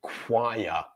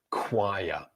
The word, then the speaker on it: choir: And they both have the K sound for the CH. So we have chaos, chaos, chaos, and choir, choir. So K-W-I-A, choir.